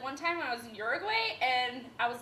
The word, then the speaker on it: Uruguay: It is pronounced Uruguay.